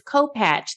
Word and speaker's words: Kopacz: so much and it's co-patch the c z is pronounced with the ch so thank you for